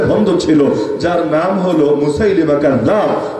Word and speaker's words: মুসাইলিমা: ছিল যার নাম হলো মুসাইলিমা অনেকে মুসা লামা বলে শুদ্ধ উচ্চারণ মুসাইলিমা মুসাইলিমা কাজ্জাব ওই মুসাইলিমা কাজ্জাব